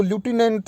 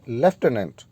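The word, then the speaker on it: lieutenant: अब dear students, आपने कुछ लोगों को इसको ल्यूटिनेंट पढ़ते हुए सुना होगा। डियर स्टूडेंट्स, ये अमेरिकन इंग्लिश में इसकी प्रोनाउंसिएशन ल्यूटिनेंट है, लेकिन ब्रिटिश इंग्लिश में एग्जैक्ट जिसको आप फॉलो करते हैं इंडियन लोग, वो है लेफ्टिनेंट।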